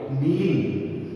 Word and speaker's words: kneeling: I told you pronunciation is very important. Read out loudly. Kneeling, K is a silent, KNEELING, kneeling, घुटनों के बल बैठना, kneeling.